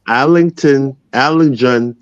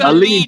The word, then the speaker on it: Allegiant: Wait a minute. Wait. It's Allegiant, isn't it? It's Allegiant. Allegiant. There- Yes. There we go, Allegiant.